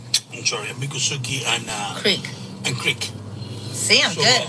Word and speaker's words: Creek: actually two different language not Greek but creek like a like a creek that goes down the river so I long time